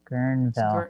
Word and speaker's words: Guerneville: Yeah, Guerneville.